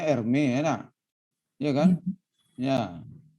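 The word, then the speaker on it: Hermès: Bacanya Hermes ya, nak.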